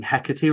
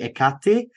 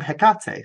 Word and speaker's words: Hecate: correct you and say you're saying heckerty wrong it's actually ikate and I was like